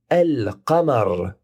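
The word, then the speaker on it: القمر: On prononce toutes les lettres avec toutes les voyelles el qamar.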